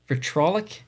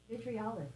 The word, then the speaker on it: vitriolic: The vitrolic hamsters. Vitrilic. The vitrilix hamsters. Vitriolic. Vitriolic. Okay, Google says vitriolic.